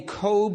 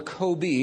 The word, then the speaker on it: COBE: NASA has another satellite your tax dollars are paying for called the COBE or Kobe. It's pronounced both ways.